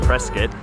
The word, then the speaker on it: Prescott: We're in Prescott, which is actually pronounced Prescott.